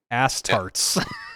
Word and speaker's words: Astartes: Astartes. Yep. Astartes.